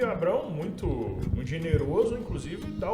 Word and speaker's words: Abrão: Vamos cuidar aqui com a pronúncia, ele ainda é Abrão.